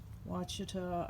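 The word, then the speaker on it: Ouachita: uh here is a wachita i think that's how you pronounce it uh blackberry thornless which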